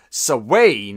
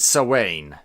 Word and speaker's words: Samhain: pun on the the Celtic proto Halloween Festival sir Wayne as its caught up here in Scotland I know it's called it's pronounced other ways and other parts of the